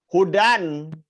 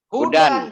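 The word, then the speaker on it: هدى: Hudan. Hudan, jangan huda. Wong nakiroh kok. Hudan itu, jangan dibacanya huda.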